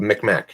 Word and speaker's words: Mi'kmaq: and then tell me how I supposedly is pronounced that's called Mi'kmaq lady that's called Mick Mac